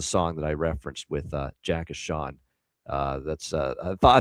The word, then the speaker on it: Jay Sean: you is the song that I referenced with Jay Sean. Uh that's I thought I thought that was the obvious one. I mean, come on. That's And that's how his name is pronounced. It's Jay Sean, Jay Sean, let me rock you, Jay Sean.